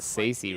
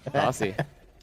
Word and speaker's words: Sacy: Saucy as well because it's Saucy, not Sacy, right? Yeah, So Sassy. he started saying Saucy. But other than that, not a lot of defense at the Saucy? main door. Saucy.